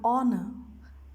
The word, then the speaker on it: honor: use an that is before a word beginning with silent h and r and honor and i so here h has not been pronounced if a countable noun